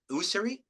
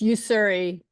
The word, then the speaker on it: Yuri: at pronouncing your name is it uh usri it's Yuri Yuri thank you Yuri thank